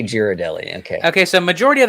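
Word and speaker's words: Ghirardelli: Oak viiew by the way says um it's gear a deli there's a painting of a parrot that shows how to pronounce it inventory account well see there there you go it's and I always say giradelli Okay okay so majority of the times I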